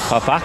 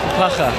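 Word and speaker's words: papakha: It's called a papacha. Papacha. Yeah? Have a go at trying to pronounce it. Sound okay. Papacha. Papacha. Pretty good.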